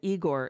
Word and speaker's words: Igor: And so Igor was Young Frankenstein, and Igor is the pronunciation of the name.